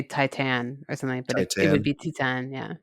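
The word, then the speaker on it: Titane: Titan. Okay. Titan, yeah. Okay. I've been saying something that I think is like that, and people have I think a been lot of people say Titan or something, but it would Titan.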